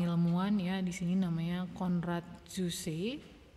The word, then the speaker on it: Konrad Zuse: ya di sini namanya konrad zuse bacanya gimana nih ini orang Jerman Biasanya kalau nama Jerman Ini bacanya seperti bahasa Indonesia ya dia disebut sebagai penemu